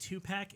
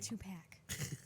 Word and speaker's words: Tupac: of tupac pronounced the true gospel of tupac pronounced two-pack if you're gonna be part of the religion do it right okay two-pack even with subdivision it's fine it's it's the